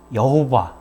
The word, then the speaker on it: 여호와: 하는 말 아도나이 줘 아도나이 에 모음 붙여서 다름을 하니까 야외 여호와 뭐 이런 발음이 됩니다 그래서 그렇게 부르게 되는데